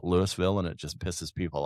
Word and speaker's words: Louisville: It's kind of the way It's kind of the way that everybody that lives in Louisville says Louisville. I call it Lewisville and it just pisses people off.